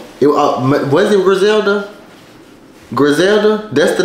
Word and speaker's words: Griselda: Griselda, that's the name of it? That's how you pronounce it?